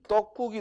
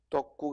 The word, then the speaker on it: 떡국: 자, 그런데 우리 시험에 뭐가 나왔냐면 이 떡국이 나왔다고. 떡국. 그죠? 그럼 떡국을 로마자로 옮기면 발음이 떡국하고 된소리가 나죠. 그죠?